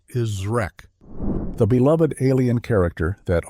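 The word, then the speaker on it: Zrek: was revealed to be Zre, pronounced exactly like it's spelled with a hard Z sound followed by Wreck.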